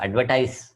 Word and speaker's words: advertise: വെർബായിട്ട് എഴുതുമ്പോൾ advertise എന്നാണ് pronunciation.